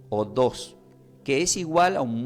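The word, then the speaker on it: ὁδός: Del griego se pronuncia como odos, que tiene acento en la O, odos, que es igual a un modo de vida, senda, camino para llegar a Dios.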